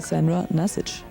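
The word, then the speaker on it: Sandra Nasić: Моя мама произносит его так. Sandra Nasich.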